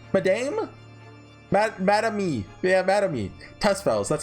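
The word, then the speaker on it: Tusspells: Tespels, that's how you say it.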